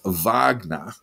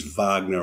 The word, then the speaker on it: Wagner: It is pronounced Wagner, by the way, Jack. Well, I was just checking that because I noticed on everyone mispronounces it. On the ABC the other day, some young person was ostentatiously pronouncing it was Wagner. I thought I was watching the Ring Cycle in Strasbourg.